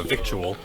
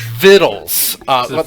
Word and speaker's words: victuals: have it would say victual right but it's not that word is actually Vittel that it is pronounced vittles like the little food beef says it's vittles